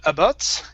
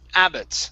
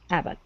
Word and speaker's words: Abbot: here is this name instead of abot it's Abbot stress at the beginning ABB Abbot okay all right nice job